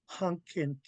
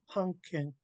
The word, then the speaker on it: hunkint: So we can't pronounce coffee, which is hunkin by itself. We have to pronounce it with the HL blend. So it becomes hunkint, hunkint, hunkint.